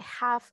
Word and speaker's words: half: ya lo sabemos chicos estas palabras van a llevar una L silenciosa O sea no va